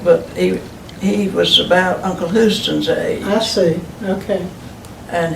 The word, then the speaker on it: Houston: I've always found that interesting how his name is pronounced, because Houston, Texas, we pronounce Houston, but Yeah, but- Mr.